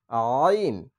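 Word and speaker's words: عين: এরপরে হচ্ছে আইন। আইন। আইন হচ্ছে গলার মাঝখান থেকে চাপ দিয়ে উচ্চারণ করতে হবে আইন আইন।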